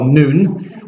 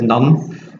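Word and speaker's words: Nun: no no I do Joshua son of noon I know we've got to pronounce it none but Caleb Caleb that's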